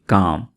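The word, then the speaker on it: calm: इस वर्ड को हम इस तरह से पढ़ेंगे काम क्योंकि यहां पर आपने एल को साइलेंट रखना है काम डाउन काम डाउन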